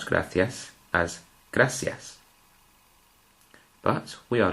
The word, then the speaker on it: gracias: even though we pronounce the word gracias as gracias, with the C sounding as a th, the word coche has got this combination.